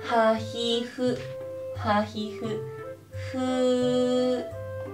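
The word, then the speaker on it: ふうふ: Hu hu. Hu hu. Hu hu. Pag ipa-pronounce natin siya, H-U, hu. Hu hu. Pero pag isusulat po natin siya na Roma G, spelling niya po ay F-U, hu-hu.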